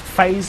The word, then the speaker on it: FaZe: Yeah, I know it's spelled Fez, but it's pronounced FaZe.